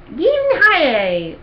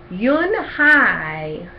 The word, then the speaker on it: Yoon-hae: Everyone tried to say it. "Yin-hae, Un-yi, Un-hae." Yoon-hae said her name again slowly and clearly. Yoon-hae.